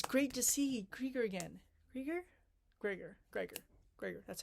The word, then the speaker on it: Gregor: Gregor. That's how you pronounce his name.